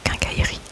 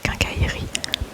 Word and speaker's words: quincaillerie: Et en réalité on le prononce quincaillerie. Le E devient muet, quincaillerie.